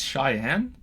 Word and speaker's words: Cheyenne: you say that Chan Chan Cheyenne Cheyenne that's Cheyenne okay Cheyenne is Native American all right whoa